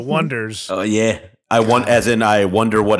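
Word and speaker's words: The Oneders: That thing you do by, I'll say it properly, the Oneaters, the Wonders.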